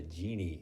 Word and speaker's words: Gini: There's something called the Gini Index, pronounced like genie, genie in a bottle, named after the guy who came up with the index.